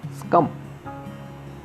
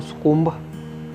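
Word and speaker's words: succumb: Next word है हमारे पास स्कम. स्कम, इसको स्कुम्ब या स्कुम नहीं बोलना, इसका करेक्ट जो प्रोनाउंसिएशन है वो है स्कम.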